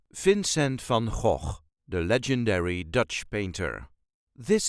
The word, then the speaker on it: Vincent van Gogh: duchies say Vincent f fincent f there is a light emphasis on the very first syllable of his first name fin sent f and please please do not pronounce it as van goog just keep trying that